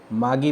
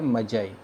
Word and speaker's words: Magi: ये वैसे तो लग रहा है कुछ लोग इसको मागी पढ़ते हैं, कुछ इसको मैगी पढ़ते हैं, ठीक है, लेकिन इसका जो बिल्कुल राइट प्रोनाउंसिएशन है वो क्या है, मजाई, ठीक है।